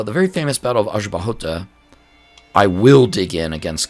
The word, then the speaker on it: Aljubarrota: tough Portuguese pronunciation um I think it's aahot uh I think if I screw that up you will let me know hopefully Azu bahot double RS RR pronounced like ha uh in Portuguese which is uh uh different for me so the very famous